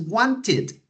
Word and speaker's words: wanted: have 16 incorrect answers when you pronounce want the last sound that you pronounce is the T sound want so in pass is wanted okay one with the e sound at the end okay wanted okay let's